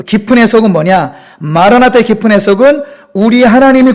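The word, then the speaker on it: Μαραναθά: 이것은 실제 헬라어로도 마라나타예요. 실제 헬라어 발음으로도.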